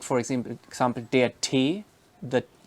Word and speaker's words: Tee: like for example der Tee, the like chai, the tea, and that is pronounced like the Barawala ta, like in teak, not like ta in tomater or tiger.